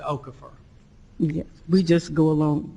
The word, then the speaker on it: Okafor: And it sounds like you pronounce it the way his Nigerian relatives do, Okafor, Yes. as opposed to Okafor.